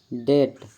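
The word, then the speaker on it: debt: में ब साइलेंट है बी साइलेंट टी से पहले आया हुआ बी प्राय साइलेंट होता है जैसे डेट डाउट इन सभी वर्ड में बी साइलेंट है सी साइलेंट एस के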